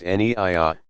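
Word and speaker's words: niyyah: Naya, pronounced Neiya, saying I intend to pray the dawn, for example, salat.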